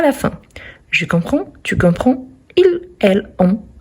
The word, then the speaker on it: comprends: deuxième personne du singulier on a le 2 S mais on ne les prononce pas et à la troisème personne du singulier on a le D à la fin je comprends tu comprends il elle